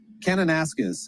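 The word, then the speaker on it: Kananaskis: David, what's a proper pronunciation there? Canonasis.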